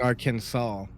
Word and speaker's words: Arkansas: Because Arkansas is spelled just like Kansas. It should be Arkansas. It's Arkansas.